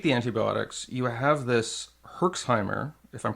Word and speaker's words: Herxheimer: when you take the antibiotics you have this herxheimer if I'm pronouncing that correctly which is kind of like this hellish State can you explain what a herxheimer is yes so a Herkimer it's actually called a yerish Simer reaction that's